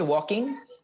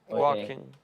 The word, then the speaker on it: walking: good can you say walking walking very good so the l in walking is like talk in half the l is silent so it's walk talk walk walking walk very good so